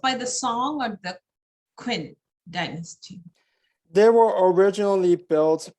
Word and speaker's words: Qin: But later expanded and rebuilt by the Qin Dynasty. So a lot of the buildings are just a few hundred years old. So Q is pronounced as a CH in Chinese. Yeah, very similar to a CH.